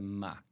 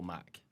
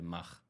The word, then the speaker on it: MACH: uh normalize it to Mac so a bit more like uh yeah like an Apple Mac okay uh yeah we don't do the Mach uh but I've I've